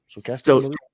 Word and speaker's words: stochastic: Stochastic.